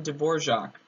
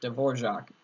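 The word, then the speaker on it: Dvořák: composer from there Antonin Dvorak and yes it is spelled Evo RAK and to get Dvorak anyways um he wrote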